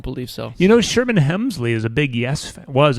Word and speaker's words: Hemsley: Hemsley. Start. He no L. I mean one L. One L. Not Helmsley. I don't believe so. You know Sherman Hemsley is a big Yes.